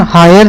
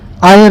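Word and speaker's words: heir: इसका pronunciation हायर नहीं होता, आयर होता है।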